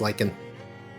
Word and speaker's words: lichen: Okay, so it is pronounced lichen.